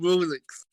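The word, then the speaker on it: Rouxls: but we will still call him Rulix. Yeah. Because his name is pronounced Rules, but no, it's Rulix.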